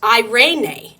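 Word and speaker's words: εἰρήνη: you're going to learn how to say it irenae irenae I love that here's what it looks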